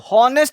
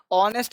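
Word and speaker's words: honest: ये देखो हॉनेस्ट नहीं बोलेंगे, ऑनेस्ट बोलेंगे। बहुत सारे बच्चे हॉनेस्ट बोलते हैं, इसको ऑनेस्ट बोलेंगे। ऑनेस्ट का साउंड आएगा।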